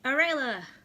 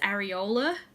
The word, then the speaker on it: Arayla: aka Arayla, which no one can ever pronounce because it's spelt weird because it was my D&D name when I was 15 and it's stuck. So yeah, funny story that Libby will like. My mum always says areola.